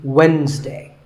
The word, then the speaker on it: Wednesday: the week it's wednesday the d is silent sometimes it's pronounced as wednesday but the proper way to say it is wednesday what about this word